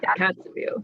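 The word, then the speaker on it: Kotzebue: Her coldest field work is in the icy, tell me if I pronounce this incorrectly, but Kozetsu or Kozetsu. Yeah, Kozetsu.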